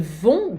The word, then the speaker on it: vont: Ils ont sommeil, ils vont dormir. Eles vão. Esse vão aqui também, o T não se pronuncia nem no on, nem no vão.